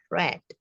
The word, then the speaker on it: read: set bentuk per k tulisannya sama read nah tulisannya sama ya kita bisa lihat tapi cara membacanya saja yang berbeda cara membacanya adalah red seperti kita mau mengucapkan warna apa warna merah ya warna merah Apa bahasa Inggrisnya red ya Sama persis seperti itu kenapa Beda begitu